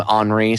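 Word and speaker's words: Henri: of AXA France uh I guess you'd pronounce his name HRI so it's HRI de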